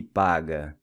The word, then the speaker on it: paga: The final A is pronounced as in Cuba.